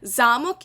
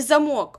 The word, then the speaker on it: замок: дерев'яний чи металевий брус замок і замок однаково пишуться але тут вже Ми визначаємо лексичне значення за наголосом замок - це у нас будівля де живуть принцеси королі і так далі а замок - це те що у вас в дверях так для замикання чи відмикання дверей тому Омоніми - це